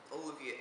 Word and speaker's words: Ololiuqui: Well, first off, it is spelled as it sounds, so keep that in mind. But it is, Ololiuqui is actually a seed of a plant.